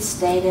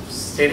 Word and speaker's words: Stata: You didn't mention stata or stata, or however you pronounce it.